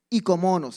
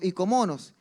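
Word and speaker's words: οἰκονόμος: La palabra mayordomo viene de ikomonos, se escribe oikomonos, pero se dice del griego ikomonos, que ikos es casa, nomos es ley y es la ley de la casa.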